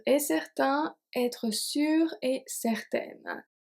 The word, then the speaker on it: certaine: Être sûr et certain, être sûr et certaine. So the pronunciation of sûr doesn't change, but certain is going to become certaine if it's feminine.